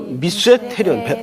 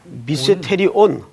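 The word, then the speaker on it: μυστήριον: 헬라 말로 미세테리온. 발음이 좀 어려워요. 미세테리손. 미세테리온. 미세테리온. 제가 글씨를 좀 날렸어서 죄송한데 이 말은 시크릿이라는 개념이 아니에요.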